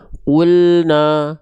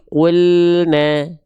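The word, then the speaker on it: قُلْنَا: Maka jangan sampai kita baca perhatikan qulna tapi qulna. tipiskan pelafalannya, ringankan pelafalannya, lidahnya rileks, rongga mulutnya terbuka. Kita analogikan buka mulut sedikit senyum, ya.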